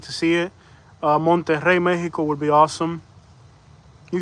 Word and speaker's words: Monterrey: Monterrey. Let me try. Monterrey. You gotta roll the R. Monterrey.